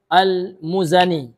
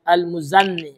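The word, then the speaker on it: المزني: Jadi dibaca almuzani tidak ditasydidkan zainya. Kan ada juga Pak saya dengar ya. Ada orang yang membacanya, ada sebagian ikhwah yang membacanya dengan almuzanni. Almuzzanni ya. Ya, ini salah ya. Atau nunnya ditasydidkannya al ya al imam muzanni k salah juga. Jadi yang benar adalah al imam almuzani.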